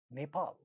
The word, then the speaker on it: Nepal: they speak this word, because it has 2 syllables and the second syllable is stressed, and in the beginning of the stressed syllable there is a pa sound, so they make it aspirated. They say Nepal, Nepal.